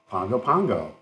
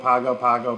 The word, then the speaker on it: Pago Pago: calling it P pgo Pago Pago p p p anyways all that so it's like Bongo Bongo it's like Bongo but it's Pongo Pongo Pongo American Samoa and